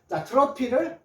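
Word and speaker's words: trophy: 트로피 , 트로피 , 트로피 F 에 만 집중 해 주세요 . PH 는 F 입니다 . PH 가 붙은 모든 단어는 F 발음 이 항상 F 입니다 .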